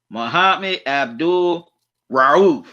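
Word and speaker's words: Mahmoud Abdul-Rauf: have his name is mahad abdul ruth mohammed abdul ruth i hope i said his name right mohammed abdul rauf that's how you say his name just want to make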